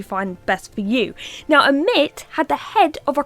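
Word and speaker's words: Ammit: Now, some people will say armit, but if I say that I just I just lose my accent like arit. So, I'm just going to say a mit for now, but you know, you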